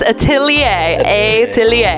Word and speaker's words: Atelier: to pronounce the name it's like atlier it's yeah it's Atelier Atelier yes it's French baguette you know not